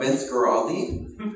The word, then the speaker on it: Vince Guaraldi: A guy by the name of Vince Guaraldi.